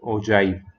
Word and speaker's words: ogive: is about oh joy some people they call it okay or something but it's not that it is it is pronounced as oh joy okay oh joy so